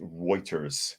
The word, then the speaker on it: Reuters: Anarchy says, Das ist Reiching, pronounced Reuters.